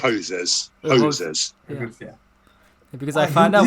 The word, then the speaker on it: Hosers: That's the right pronunciation, right? Hosers.